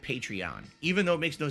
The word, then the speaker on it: Patreon: I guess they actually pronounce it Patreon, even though it makes no sense because Patreon is supposed to be a take on patron of the arts.